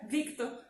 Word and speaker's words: Victor: Mas a pronúncia é Victor. Não acaba que sai Vitor, né?